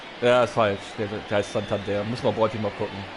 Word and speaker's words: Santander: Der heißt Santander. Muss man Bräuti mal gucken. Der wird nicht so ausgesprochen.